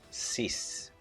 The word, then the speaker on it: sis: Number 6 is pronounced sis, and we write it S-I-S, sis.